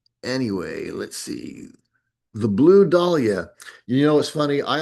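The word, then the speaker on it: Dahlia: uh and I thought it was the blue dia and a I was talking about it with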